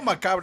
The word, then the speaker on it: macabre: You know, macabre is just the Spanish pronunciation, macabre.